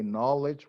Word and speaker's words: knowledge: honest with you okay the K is never pronounce it when it starts a word in English we say no we say knowledge we stay night okay